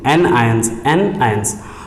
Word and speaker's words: anion: कैटायंस पे ये दिख रहा होगा आपको T, और एनायंस देखो, एनायंस का प्रोनाउंसिएशन देखो, एन आयंस, तो N फॉर नेगेटिव।